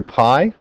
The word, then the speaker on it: pi: funny little symbol here Pi okay so you pronounce it just like the pie you eat at home apple pie blueberry pi